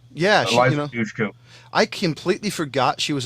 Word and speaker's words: Dushku: And don't forget about a very young, I can never pronounce her freaking name. Eliza Dushka? Yeah. Eliza Dushku.